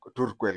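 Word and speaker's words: Turkwel: ones who financed the turquel Gorge you call it tqu gge but the proper pronunciation is turqu although turquel gge was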